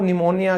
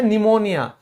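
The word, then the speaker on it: pneumonia: तो पी कहां साइलेंट होगा दोस्तों? देखो पी के बाद या तो एस हो। ठीक है? या एन हो। इस सिचुएशन में क्या होता है? पी कहता है मैं कुछ नहीं बोलूंगा। मैं साइलेंट हो जाता हूं। जैसे बीमारी थी ना वो निमोनिया किसी को सर्दी जुकाम होने के बाद होता है तो यहां पे सीधा हम बोलते हैं निमोनिया तो पी का कोई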